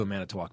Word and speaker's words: Manitowoc: a lot to do a minute walk by the way it's how you say it yeah probably not hits